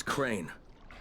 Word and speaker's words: Crane: no my name is crane crane crane rhymes with train and brain and sign and Grain